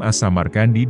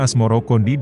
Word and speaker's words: Asmarakandi: Sebutan itu mengikuti pengucapan lidah Jawa dalam melafalkan Asamarkandi, yang kemudian berubah menjadi Asmarakandi.